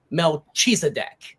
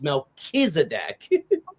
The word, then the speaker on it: Melchizedek: Because when they look at it, they're going to think Melchizedek. And I'm like, well, no, it's Melchizedek.